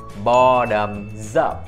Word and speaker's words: bottoms up: câu sau, đó là bottoms up. Các bạn nhớ phát âm nè. Bottom có âm xì đằng sau thì chúng ta đọc là z, chúng ta nối qua cái chữ up. Bottoms up.